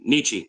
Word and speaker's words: Nietzsche: It's Nietzsche. It's Nietzsche. it's said German.